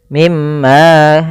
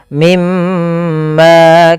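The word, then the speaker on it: مِمَّا: diwarnai dengan warna hijau Artinya kita menahan suara mnya sepanjang dua harakat mim mimma jangan langsung mimma itu banyak banyak sekali terjadi yang seperti itu dia apa namanya malah ee apa tidak menahan gunahnya tapi langsung saja mimma harusnya ditahan dulu mimma kaana Fi Kemudian pada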